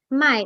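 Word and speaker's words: 卖: means to buy and mai in the fourth tone means to sell the characters are different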